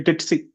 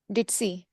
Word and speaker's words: ditzy: The spelling has a Z, but it has a Z, but you have to pronounce it like S.